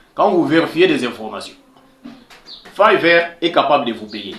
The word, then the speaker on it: Fiverr: Là-bas, nous avons par exemple Fiverr. On lit Fiverr, mais moi je prononcé Fiverr pour vous permettre un peu de saisir l'orthographe, même dans votre langue maternelle.